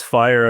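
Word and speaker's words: FHIR: And for the listeners, Fire in this case is spelled F-H-I-R. It's the standard Fire, not, the fire where you call the fire department, just in case anyone didn't know.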